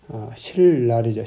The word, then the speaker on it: 신랄: 있어요 그러면서 예수님을 신랄하게 신 라 리 라고 쓰지만 실 날이자 실날 발음은 그래서 이 그들은 음